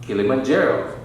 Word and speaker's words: Kilimanjaro: before you die on your to climb Mount Kilimanjaro that's how to pronounce it or walk the Golden State Bridge